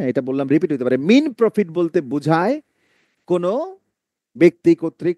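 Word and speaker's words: mesne: অন্তর্বর্তীকালীন মুনাফা, এইটার উচ্চারণ অনেকে কি বলে? মেসনে প্রফিট। ন, এটার উত্তর হচ্ছে মিন প্রফিট। মিনা শব্দটা আছে না, মিনা, মিনা কার্টুন, সেই মিনা, এটা বাদ দিলে মিন হয়।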